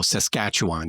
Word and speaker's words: Saskatchewan: But for future reference, it's emphasis on the second syllable, and you just let everything else just go. Saskatchewan. You just let everything else go.